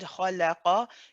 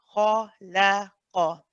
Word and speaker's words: خلق: If you find that you're saying khala, the lam is pronounced as a la, khalaqa, then that means your lam is heavy, and that is not correct in this case.